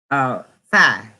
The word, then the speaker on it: phi: The Greek letter F is phi, and it's spelled PHI.